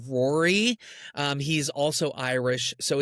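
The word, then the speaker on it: Ruairi: Our DP is Ruari, which I think is pronounced Rory.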